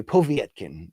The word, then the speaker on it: Povetkin: the career of Alexander povetkin or as they would say povetkin that's how Lampley would always pronounce it that might be the